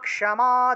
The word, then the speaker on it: ক্ষমা: ক্ষমা আছে না, ক্ষমা, এই যে ক্ষয়ের উচ্চারণ হলো ক যোগ মূর্ধন্য স, অর্থাৎ ক্ষ রূপে উচ্চারিত হয়। ক্ষমা উচ্চারণ হবে ক্ষমা। দুর্গা শিবা ক্ষমা ধাত্রী, দুর্গা শিবা ক্ষমা ধাত্রী।